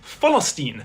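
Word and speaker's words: فلسطين: They pronounce it Falastin, which is proof that the word has existed in Arabic for millennia, old enough to be affected by the P to F sound change.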